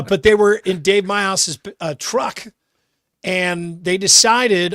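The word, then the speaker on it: Meihaus: And it's pronounced my house.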